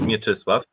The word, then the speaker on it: Mieczysław: Asif told already, that my name is Mieczysław. And my surname is. I'm from the University of Łódź. In Polish pronunciation, it is Łódź.